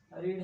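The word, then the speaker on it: read: फम भी हो जाएगा और बस इसका जो मीनिंग उच्चारण होता है इसका जो प्रोनंसिएशन होता व अलग होता है जसे फर्स्ट फम में आप इसको रीड पढ़ेंगे सेकंड फम में आप रेड पढ़ेंगे और थर्ड फम में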